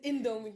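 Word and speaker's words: Indomie: 500 Emy Emy why did I say it wrong or something it's indomi you were like indomi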